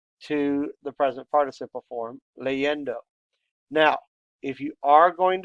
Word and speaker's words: leyendo: We should know that the stress falls on the next to last syllables. Leyendo, on the E.